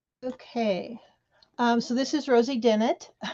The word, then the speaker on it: Dennett: Okay, so this is Rosie Dennett. It's Dennett like Bennett, Renee.